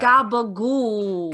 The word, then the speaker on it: gabagool: But mostly gabagool. Yeah, you know, the real Italians, they cut off the last syllable. Oh, that's interesting. Yeah. Gabagool.